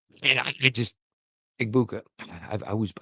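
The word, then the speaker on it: Egbuka: They draft a Mecha Eggbaga. Eggbaga and I just Eggbuka. I I always butchered that name.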